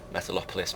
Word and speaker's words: Metalopolis: but as previously stated this map is Metropolis metalopolis Metropolis however you wish to pronounce it although I assume the correct translation uh pronunciation is metalopolis I will quite often call it metalopolis because I always forget about that extra L um but as I